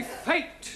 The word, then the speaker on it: fate: Let us take the word F-A-T. Now, that has a flat A sound. Good. But if we add an E to the end of fat, then what do we have? Fatty. No, Giovanni, fate.